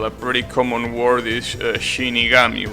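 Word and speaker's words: 死神: that has two kanjis, the first kana of the second kanji has the pronunciation altered. So you say Shinigami and not Shinikami, right?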